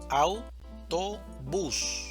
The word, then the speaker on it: autobús: Autobús, división silábica. Autobús. Sílaba tónica. Bus. Autobús.